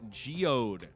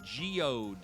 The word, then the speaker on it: geode: it right away sandstone geod Ridge well done sir and I I almost missed I almost said it wrong myself it's not Geo Ridge it is geode geod Ridge is geod he had it ready